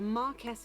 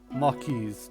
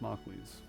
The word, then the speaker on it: marquis: smug dimwit with a marquez title has worse manners than his horse marquise title i know but it's spelt marquis but it's actually pronounced marquise annoyingly i know that